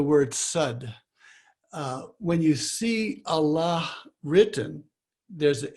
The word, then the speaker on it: Allah: The convention is when you're pronouncing a name, not to pronounce the last syllable, or I guess it's the last syllable. So you would say Allah, and Allahu is the technical way of saying it, and you would